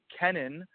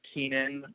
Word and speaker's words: Kenan: pronounce my name, it's my name is actually Kenan, but I go by Ken because it's easier, because when it's spelled out the whole way, it's Kenan, and everybody thinks it's Keenan or something weird like that.